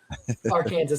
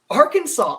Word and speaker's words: Arkansas: i did say it i did say it wrong on purpose it wasn't because i'm an idiot our kansas i think is funnier arkansas i mean i think